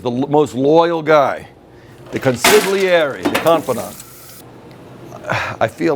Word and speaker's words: consigliere: The name of the cocktail is called the consigliere.